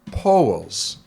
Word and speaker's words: Poul: And over in Denmark, it's actually pronounced POS.